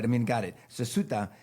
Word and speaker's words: Ceuta: And they swam 300 meters to Ceuta or Cueta. I mean, maybe I'm pronouncing it like a Mexican instead of like a Spanish person because they have that. Ceuta. Ceuta. Yeah, but Okay. in Spanish it would be Cueta, but I mean, got it.